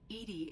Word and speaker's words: EDI: why are you named edie edie is the phonetic pronunciation of edi that is an acronym for enhanced defense intelligence what do you do